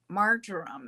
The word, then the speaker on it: marjoram: Now, this is a good time to add into your food the spices of rosemary, marjoram, or marjoram is how I pronounce it, and bay leaf, and any other